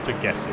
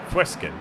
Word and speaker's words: Fueskin: It's not Ferguson, it's Fueskin. How much time is left in the race? 7 minutes. Matthias Fueskin. Can't pronounce anything. Aidan Russell. 5 seconds back. Attel. Just a second and a half back there in P4. Oh, who's that in the... That Gullickson battle again. I think we'll stick with this for a while. These guys are going at it. So you can pronounce UE like U. So Fueskin.